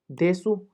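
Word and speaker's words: です: ही लिख देता हूं लिखा जाएगा देशु लेकिन लेकिन बोला जाएगा देश ठीक है देश बोला जाएगा देश अब यह क्यों जरूरी है क्योंकि अगर आप देशु देशु बोले तो आपकी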